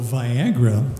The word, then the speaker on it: Viagra: what they do well viagra rhymes with Niagara straw strong powerful all